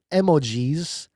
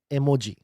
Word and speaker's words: emoji: It is emoji emoji because in Japanese e means image, art and g means word. So it's art word emoji. It is not as Americans think emotions because it's, you know, emoji. It's not emoji.